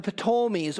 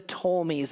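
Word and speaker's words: Ptolemies: kings of Egypt and the potomies or the tolmies as some say I say the P there's no necessarily right or wrong pronunciation but so the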